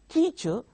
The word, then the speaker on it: teacher: not say teacher teacher in teacher the first syllable is stressed the mark is there